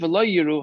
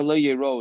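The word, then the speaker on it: לא יראו: Uksiv lo yiru hachutza. And they were never lo yiro is the right pronunciation.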